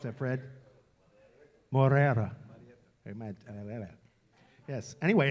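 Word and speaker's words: Moreira: How do you pronounce that, Fred? Morera.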